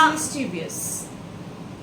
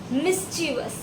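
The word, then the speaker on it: mischievous: सो इट इज़ मिसवियस। फिर से बोलो। मिसवियस। Okay. So the correct pronunciation and even my pronunciation is मिसवस। इट इज़ मिसवस। इट्स नॉट मिसवियस।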